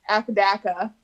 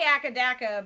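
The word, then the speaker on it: AC/DC: your strategy is with akadaka as you would say i say acadeco because that is how they say it in australia and is that true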